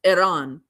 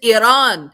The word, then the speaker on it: Iran: Um, and if you want to learn how to pronounce Iran, you have to kind of click your tongue a little bit. It's Iran.